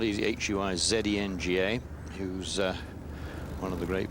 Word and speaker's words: Huizenga: Colin Montgomery has an interesting amateur partner, Bruce Wayne Huizinga. Indeed, well pronounced. Not easy. Huizenga, who's one of the great business.